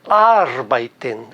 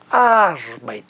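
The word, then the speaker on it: arbeiten: no alemão a tendência veja bem a tendência de que a sílaba tônica esteja na primeira sílaba e é o caso de arbait arbait Ela está na primeira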